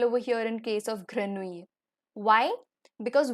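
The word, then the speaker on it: grenouille: here in case of granui why because whenever there is a Double L between i and e in French it's always going to remain silent so the next is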